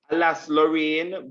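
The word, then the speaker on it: Alsace-Lorraine: The war between France and Germany for Alaska, Lorraine, if that's how you say it. Alas, Lorraine, very good, yes.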